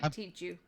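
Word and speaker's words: Tichu: Here, I said it right. Tishu.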